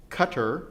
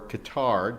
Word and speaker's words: Qatar: human rights El Salvador Indonesia Mongolia Philippines Portugal Qatar or Qatar depending on how you spell it and by the way Qatar or Qatar